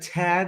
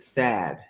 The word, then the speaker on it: Thad: But anyways, I'm here with, do you pronounce it Tad or is it Thad? It's Thad.